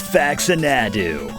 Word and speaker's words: Faxanadu: can help you with that one Professor it's fax and Adu all right this is uh Blaze our resident items and M magic guide for this walkr so fax and ad uh Professor sorry to interrupt pleas I hate to